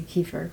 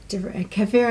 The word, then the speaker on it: kefir: America about milk kefir I always really see Kieffer okay kefir is the proper way to say it okay anyway it wasn't